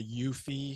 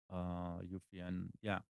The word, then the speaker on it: Eufy: So The one of the things I have a Eufy. Is that how it's pronounced? EUFI, Eufy, EUFY, yeah, Eufy.